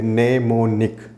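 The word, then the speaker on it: mnemonic: नेमोनिक, am silent रहेगा, नेमोनिक code इसमें यूज होते थे।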